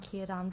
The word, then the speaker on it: Círdan: It's just like, I've tried to get the rolled R's on Círdan before, but it just doesn't work for me, so Círdan is the best that I can do.